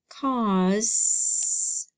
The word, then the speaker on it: cause: this time it's gonna be an A in a you cause yeah that's gonna be an S and then we've got one more letter but I don't hear anything so it must be a silent E this is the word cause so I need you